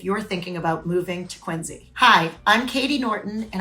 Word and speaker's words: Quincy: called it quiny Massachusetts phonetically it looks like it should be quinky or quiny and it's not so if you're moving to quiny make sure you say you're from quiny Once you live here